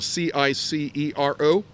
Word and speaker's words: Cicero: The C sound is hard. So the great Roman orator, whose name is spelled capital C-I-C-E-R-O, we think that would be pronounced Cicero.